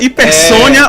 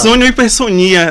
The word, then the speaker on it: hipersonia: É chamada hipersônia ou hipersonia, né? Depende da pronúncia de quem for comentar, que tanto é problemático